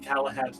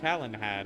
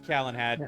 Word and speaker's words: Calenhad: whatever happened at Lake Galahad Tower? Is it Lake Galahad or Calenhad? I thought it was Calenhad. Galahad, however it's pronounced. All right. Yeah, I'll go. it is Calenhad.